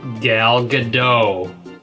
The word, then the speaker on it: Gal Gadot: god oh god oh god oh god oh gal gadot I said it right right you did hi